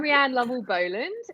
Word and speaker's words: Rianne Lavelle Boland: across the way is Rianne Lavelle Boland. May have pronounced it correct. Rianne, introduce yourself and get my pronunciation. Yeah. So I'm Rianne Lovell Boland, and I've been a broadcast journalist for a decade now.